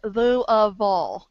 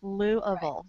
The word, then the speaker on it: Louisville: know to say it you just have to say it correctly there I know I'm saying it wrong no you're doing fine it's Lou ofal Lou Louisville or Louisville yeah Lou ofal gotta say it right okay you know what